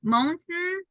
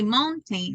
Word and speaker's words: mountain: happen with mountain m you say mountain right normally but it's not mountain mountain H with cotton happen to it's not cotton that would be cotton okay it's like just n Sound at the end you call that the